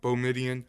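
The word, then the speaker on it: Boumedienne: Can you pronounce his last name for me? Because I keep Oh, butchering it. Midian. Yeah, Boumediene.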